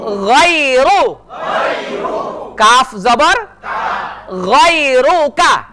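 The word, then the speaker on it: غيرك: জবর গাই গাই গাই র পেশ রু গাইরু গাইরু কাফ জবর গাইরুকা গাইরুকা ওয়ালা ইলাহা গাইরুক ওয়ালা ইলাহা এখন কিন্তু আমি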